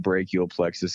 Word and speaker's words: brachial plexus: Well, for first off, it's pronounced brachial plexus injury. I mean, you're completely fine. A lot of people pronounce it that way.